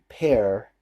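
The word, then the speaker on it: Paré: alert was played by Michael pair or Pierre pair that's how you pronounce his last name anyway I sent them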